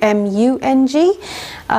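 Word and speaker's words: moong: double OMW ng and sometimes with a u mu ng sometimes pronounced mung bean or in India it's called moon so this is the dal in or the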